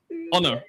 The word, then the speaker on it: Ona: Uh, Ona, welcome. Please tell me if I'm telling your name wrong. Am I saying your name wrong? No, that is okay. It's like in English, honor. So, honor.